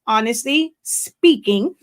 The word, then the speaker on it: Honestly Spinking: is the full name even though it is spelled s-p-i-n-k it is pronounced honestly speaking because that is what